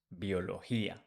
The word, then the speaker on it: biología: If we change Y for IA, biology becomes biología. Again, bio, the pronunciation changed for bio, bio, but the spelling is the same.